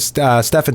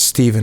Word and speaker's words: Stefan: Game 2 in triple overtime, courtesy of Stefan Seeger, whose name I mispronounced as Steven on the goal call.